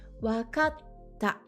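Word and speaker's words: わかった: Attention, ici, c'est bien un petit tse, on ne le prononce pas. C'est une pause dans le mot. Wakatta.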